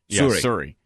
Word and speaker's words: Suri: u r i and it was wasn't it pronounced Suri Suri Suri now Tom was born in New York state